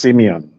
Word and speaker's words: Simeon: Let's go to Simon, sir. You there? Yes. Can you hear me? Can you hear me? Loud and clear, Go please. ahead. Oh, perfect. My name is pronounced Simeon. Oh, it's Simeon. Okay, nice one.